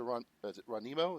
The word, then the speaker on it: Ronimo: And my apologies to Ronimo. Is that how you say it? Ronimo? Ronimo, yeah.